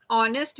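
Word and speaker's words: honest: नहीं करता for example in ऑनेस्ट ऑनेस्ट में एच जो है व साइलेंट है उसकी हमें साउंड नहीं आ रही रप रैप में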